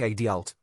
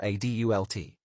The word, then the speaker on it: adult: For example, Americans usually stress the first syllable in adult, like adult, while in British English, it's often adult.